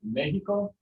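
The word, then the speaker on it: México: if you have a mexican word like mexico what does the x sound yeah it's like an h um but most of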